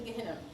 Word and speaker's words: Gehinnom: And I asked him about the pronunciation, so it's right. Canyons in Gehinnom.